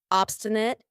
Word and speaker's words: obstinate: Obstinate. And notice how I pronounce it with a schwah at the end. Obstinate, not obstinate.